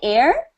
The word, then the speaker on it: heir: monarchy air when you when you are an heir what do you inherit when when your parents